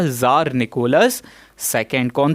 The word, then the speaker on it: tsar: इसको हम funny way में प्रोनाउंस करते हैं ज़ार। ज़ार मतलब होता है किंग। इसकी स्पेलिंग दो तरीके से लिख सकते हो, TSAR और CZAR।